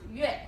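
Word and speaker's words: 月: And it's pronounced yue.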